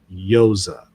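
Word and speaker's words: Yosah: They'll argue that's a misreading, and it should be pronounced Yosa, Y O S A H, which is not the same as Jesus's brother, Joses.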